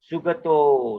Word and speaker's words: sugato: O is always long unless it appears before double consonant. So this is a normal O. Sugato, sugato, sugato.